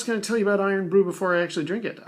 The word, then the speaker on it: Irn Bru: that brogue scottish spirit and call it well iron brew the way it's spelled here so here's to you scotland now